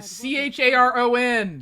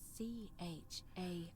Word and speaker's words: Charon: Only your pronunciation is a little off. Karen! C-H-A-R-O-N! It was C-H-A-R-O-N.